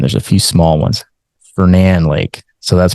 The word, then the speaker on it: Fernan: Fernan Lake. So that's pronounced Fernan, not Fernan. That's a common mispronunciation. So this is Fernan Lake right here. Also has waterfront. Fernan and this little lake right here called Avondale.